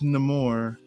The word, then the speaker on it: Namor: It's pronounced Namor. As in, I don't want to watch no more of this.